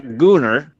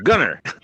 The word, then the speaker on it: Gunner: It's not Gooner. It's Gunner. Oh.